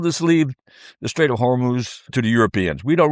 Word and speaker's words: Hormuz: Oh, we're not going to worry about the straight up Humor. I said it right. Right. Hormuz.